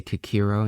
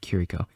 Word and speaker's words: Kiriko: I always say Kikiro instead of Kiriko.